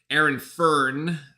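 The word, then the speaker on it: Aaron Fearne: So coach of Charlotte, Aaron Fern, as it is pronounced, used to be the head coach of the Cairns Taipans.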